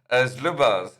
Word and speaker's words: Zlubars: Zlubars. Yeah, I mean, that's normally how I pronounce it.